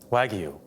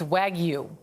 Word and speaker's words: Wagyu: And how do you pronounce it again? Wagyu. It's Wagyu.